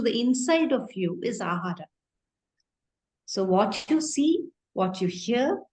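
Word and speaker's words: āhāra: very it's very simple ahara the word in Sanskrit which translates itself into food has two syllables in it ah and R okay ah means from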